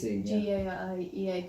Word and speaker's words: Gaiea: Gaiea without the consonants, so, and that's why it's spelt like it is, G-A-I-E-A, Gaiea.